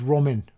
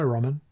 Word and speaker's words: Ramin: In fact, it's Ramin, Ramin. But I do like ramen noodles, as it happens. And American people pronounce my name like the noodles. They say, hi, Ramin.